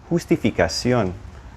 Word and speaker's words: justificación: And remember, J sounds like an H. Justificación.